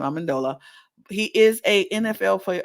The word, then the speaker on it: Amendola: I said I was going to remember how to pronounce his name. Amendola.